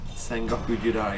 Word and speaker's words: Sengoku Jidai: I've always wondered how you pronounce that. Sengoku Jidai.